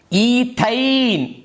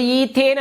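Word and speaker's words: ethyne: ಈಥೈನ್ ನೋಡಿ, ಈಥೈನ್. ನೀವು ಪದ ಉಚ್ಚಾರಣೆ ತಪ್ಪು ನೀವು ಓದ್ಬಿಟ್ರೆ ನೀವು ಬರೆಯೋದು ತಪ್ಪಾಗುತ್ತೆ. ನೋಡಿ, ಈಥೈನ್ ಓದೋ ಬದಲು ಈಥೇನ್ ಅಂತ ಓದ್ಬಿಟ್ಟು ಬರೆದ್ರೆ ಪರೀಕ್ಷೆಯಲ್ಲಿ ಇದನ್ನು ಕೇಳಿರ್ತಾರೆ, ನೀನು ಬರೀ ಈಥೇನ್ ಬರೆದಿರ್ತೀಯ, ಪೂರ್ಣ 2 ಅಂಕ ಹೋಯಿತು.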